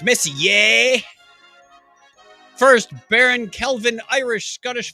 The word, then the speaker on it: Messier: I don't think he cares how I pronounce his name. It's Messier.